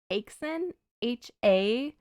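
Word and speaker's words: Häxan: uh Swedish film called aen ha with an uml over top of the a so it's like a long a sound h a x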